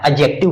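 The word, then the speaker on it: adjective: इसे नहीं पढ़ते हैं, एडजेक्टिव, यहाँ पर डी साइलेंट होता है, एडजेक्टिव पढ़ते हैं।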